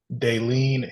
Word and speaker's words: Dalene: bright brains podcast today we have my guest denen did I pronounce that right you did you did all